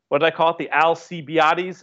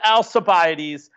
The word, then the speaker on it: Alcibiades: Years ago, I called it the Alcibiades? Of course, it's the Alcibiades.